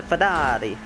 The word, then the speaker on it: Ferrari: supposed to see it the italians they don't see ferrari do you see ferrari it's a ferrari it's not a it's not a ferrari it's a fadadi and it's a lamborghini